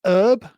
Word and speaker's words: herb: And I I've noticed that you Americans have this weird uh way of pronouncing herb. It's herb in the American lexicon, which is weird because it's got a H on it. And H is a a letter, a consonant.